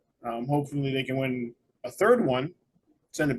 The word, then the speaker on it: Roy: with a rookie goaltender who ended up being a Hall of Famer Patrick Roy Patrick Roy W Patrick W I know it's w it's spelled Roy it's w he's Canadian I know